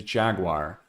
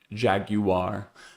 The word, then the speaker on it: Jaguar: One thing that didn't reverse course, though, that popped up in the news again is Jaguar, or if I say it like the British people say it, Jaguar.